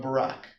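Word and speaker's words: Barak: Uh God tells her to summon a military man by the name of Barack or Beric, however you want to pronounce it.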